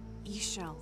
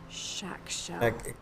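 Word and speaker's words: Ixchel: Ishel, the goddess. Shell. Oh. And yeah, that's weird. Mexico. They pronounce the X like sh. Shakshel.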